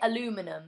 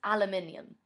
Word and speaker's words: aluminium: aluminium aluminium aluminum yeah Americans say aluminum it's aluminium um what do